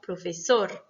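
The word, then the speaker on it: profesor: Exemple, professor, espagnol. D'accord? Donc là, c'est sor et ñol qui sont accentués.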